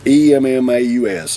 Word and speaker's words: Emmaus: I guess that's how you pronounce it, E-M-M-A-U-S, Emmaus, Pennsylvania.